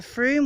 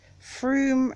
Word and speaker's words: Frome: is, that's the River Frome, which we're going to be following round. And it's Frome rhymes with broom. They get very cross if you call it Frome, even though it's spelt Frome.